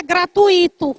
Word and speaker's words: gratuito: E não é gratuito. A gente escuta no rádio e a gente escuta em outros espaços. Gratuito é gratuito, forma de tongo e não iato, tá?